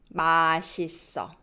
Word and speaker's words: 맛있어: Look, there is iung here and iung here. Both will link or pronounce the consonant that comes before them. So this becomes, both will be pronounced and it becomes 맛있어.